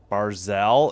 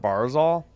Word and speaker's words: Barzal: Looks like it's on dwar Barzel. Is that how you say his name? It's not Barzal.